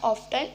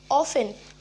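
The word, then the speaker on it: often: नो, इट्स नॉट ऑफ्टन, इट्स ऑफन. ऑफन, इसके अंदर जो टी होता है वो साइलेंट होता है.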